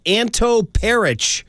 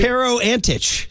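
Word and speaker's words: Pero Antić: bad that we were talking about Anto Peric. Who? Is that his name? Did I get that name right? No, it's Pero something, right? Pero Antich.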